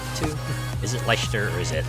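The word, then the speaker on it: Leicester: Lester. Okay, gotcha. Thanks. Red leester cheese.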